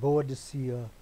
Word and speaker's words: Boadicea: And now this great Queen Boadicea, or Boudica, depending on how you want to pronounce it, Victoria.